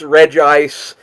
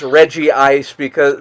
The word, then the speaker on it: Regice: Like they pronounce Regice as Regice which it isn't because there's not 2 I's there in that syllable.